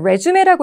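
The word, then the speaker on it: résumé: 그 다음에 나머지 오답이었던 A번은 resume라고 읽으면 이력서지만 resume, 재개하다라는 동사고 그 다음에 C번이 hold는 원래 listening이나 회화 때는 이 잡다로 많이 나오잖아요.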